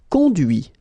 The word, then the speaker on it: conduit: Conduire, conduit. Construire, construit. Cuire, cuit. Détruire, détruit. Instruire, instruit. Okay, so you can notice that even if I put this final T, so as usual, I don't pronounce it.